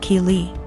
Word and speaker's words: Keely: My daughter's name is Keely, pronounced Keely.